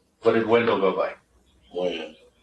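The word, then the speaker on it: Wynn: Win. Win or Wen? Win. W-E-N or W-I-N? W-Y-N-N. W-Y-N-N.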